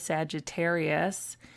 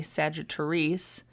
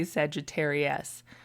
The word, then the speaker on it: Sagittariesse: When most people look at my name, though, they call me Sagittariesse, which never occurred to me that they would see that, but I don't know, it seems to be the universal pronunciation of my name, so that's fine too.